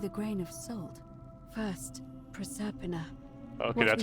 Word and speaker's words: Proserpina: First, Proserpina. Okay, that's how you pronounce that.